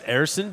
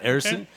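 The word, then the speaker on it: Ersson: Yeah, I mean, and it's, just so you know, because we found this out the hard way too, it's Erson. He wants it to be pronounced Erson. Okay.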